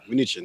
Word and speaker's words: Mnuchin: Mnuchin. There you go.